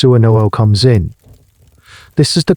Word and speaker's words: swnw: This is where the SWNW, pronounced Suanoo, comes in.